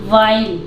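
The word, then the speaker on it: while: वाइल, डब्ल्यू के बाद एच यहाँ पे साइलेंट रहता है, वाइल।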